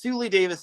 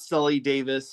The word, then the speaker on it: Sully Davis: And yes, her name is pronounced Sully Davis, not Sully Davis, so that's my bad on that.